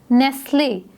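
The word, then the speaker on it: Nestlé: आगे इसे silent hair नेस्ले नेस्ले जो है वो एक ब्रांड है और इसको हम प्रोनाउंस कैसे करते हैं नेस ले हमने टी को प्रोनाउंस नहीं किया इसको हमने नेक्स्ट लेने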